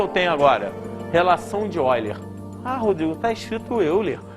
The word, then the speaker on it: Euler: tenho agora relação de eiler ah Rodrigo tá escrito Euler eu sei ele era um matemático alemão tá escrito Euler mas pronuncia esse erer continua o que que